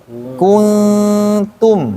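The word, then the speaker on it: كُنتُم: jelasnya Nun hurufnya datar jadi bacanya Kun monyong tarik kemudian Tum Tu juga monyong mimnya juga datar jadi Tum jadi kuntum nah gitu mulutnya itu jadi ku tu em kuntum Bima kuntum tamalun kuntum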